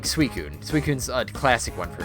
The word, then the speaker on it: Suicune: for a long time I pronounced it as Suicine. Even though that's adding another I that shouldn't be there.